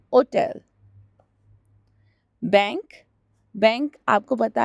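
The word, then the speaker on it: banca: तो होटल को होटल ही बोलते हैं, लेकिन उसके बोलने के स्टाइल में और प्रोनाउंसिएशन में थोड़ा चेंज है, तो उसको कहते हैं होटल। बैंक, बैंक आपको पता है जहाँ पर आप अकाउंट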